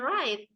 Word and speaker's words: write: also silent right and write the W is silent not bright but right